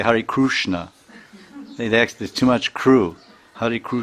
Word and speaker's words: Krishna: That Kri is, it's not Kri, and it's not. It's something between Kri and Kru. Like in Orissa, they say Hare Krishna.